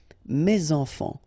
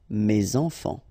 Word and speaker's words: mes enfants: Enfants, children is starting with a vowel, so you should make the liaison mes enfants, mes enfants.